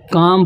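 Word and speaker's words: calm: बहुत सारे स्टूडेंट उसे काल्म में पढ़ते हैं, तो ये काल्म नहीं है, यहाँ एल साइलेंट हो जाता है, तो इसे काम पढ़ेंगे।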